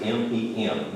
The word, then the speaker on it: Mem: That's how they're pronounced, M-E-M, Mem.